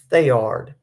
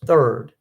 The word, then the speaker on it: Theard: We pronounce it Thayard. Most people pronounce it as third.